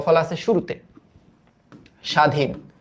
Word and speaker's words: স্বাধীন: ত্বক, এটার উচ্চারণটা হইল ত্বক, সরি ত্বক, এটার উচ্চারণটা হইল স্বাধীন, স্বাধীন।